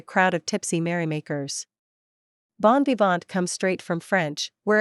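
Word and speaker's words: bon vivant: of Tipsy merry makers Bon bant comes straight from French where it means literally good liver and is still pronounced in the French way though we've actually been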